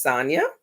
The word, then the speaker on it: Sonya: don't my name is sonya rhymes with tanya um i am a